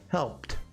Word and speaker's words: helped: then it has a T sound, like helped, because Help. is a whisper. There's no vibration in the throat.